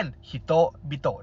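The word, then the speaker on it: 人々: เขียน ตัว คำ ว่า ฮิโตะ 2 ตัว ฮิโตะ ฮิโตะ ก็ เลย อ่าน เป็น ฮิโต๊ะ บิโตะ นะ ครับ ผม ทำ ให้ ออก เสียง ได้ ง่าย ขึ้น ต่อ มา คบิโตะ คอบิโตะ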